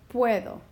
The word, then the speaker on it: puedo: On this word right here, puedo, I need to decide if I want puedo or puedo. I want to keep them together. I like that sound. I have a strong E that's next to a weak U, and so that E is naturally going to overpower the U, so I don't need to do anything there.